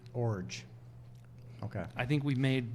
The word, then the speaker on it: Iorg: and it's pronounced Orge. Orge.